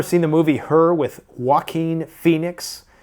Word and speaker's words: Joaquin: the movie Her with Joaquin Phoenix I used to pronounce his name jaquin because I was reading it phonetically Joaquin Phoenix and he